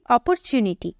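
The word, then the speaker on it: opportunity: इसका साउंड क्या निकलता है ऑप्शन वैसे ही अपॉर्चुनिटी यही बोलते हो यहां पर भी ओ का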